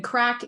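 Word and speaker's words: craic: the good crack and the good crack is here in Ireland it's it's spelled c-r-a-i-c and um it is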